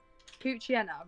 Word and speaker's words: Poochyena: Poochyena, right, I've been pronouncing that wrong then.